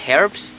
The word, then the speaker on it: herbs: I'm not sure if it's herbs or herbs, because in Spanish we don't pronounce the H, but in English you do, which is confusing. So I think it's herbs, I'm not sure.